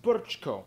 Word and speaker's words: Brčko: I know, it looks like Brčko, it's pronounced Brčko.